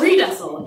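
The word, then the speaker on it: Riedesel: My original name, and I say original because fuck the patriarchy, my original name was Redessel, and it is spelled exactly like it sounds, R-I-E-D-E-S-E-L. Fuck you, it's German.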